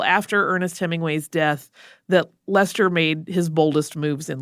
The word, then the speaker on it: Leicester: But Leicester, and that is spelled the same way that the city in England is spelled, but it is pronounced Leicester similarly, much younger than his famous sibling, has quite a story of his own.